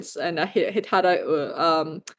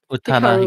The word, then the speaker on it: Utada: I made sure there's one Canto pop, one Mandarin, some K-pop, and Hitada. Gosh, what? How do you say her name again? Utada.